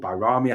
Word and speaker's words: Bajrami: Obviously, with Bajrami coming or Bayrami coming, whatever he's actually called, Bayrami, I think the correct pronunciation is.